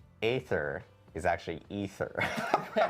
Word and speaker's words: Aether: And then we learned that canon in Diablo I despite it being spelled ae t h e r it's actually pronounced ether uh thanks to mway uh who said it